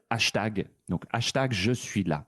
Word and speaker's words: hashtag: Euh, on le prononce à la française, hashtag.